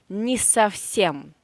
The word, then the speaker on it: не совсем: This O we pronounce as A, of course, because it has no stress in this word. Stress is on the last syllable.